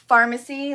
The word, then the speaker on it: Farmasi: It's called Farmasi, like, you know, where you get medicine, but it's spelled F-A-R-M-A-S-I.